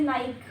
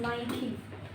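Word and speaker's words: Nike: कुछ common for example कुछ common brand names जैसे नाइक तो ये नाइक नहीं है। निक नहीं है। दिस इज़ नई नई यह है एडडास नो दिस इज़ एडिडस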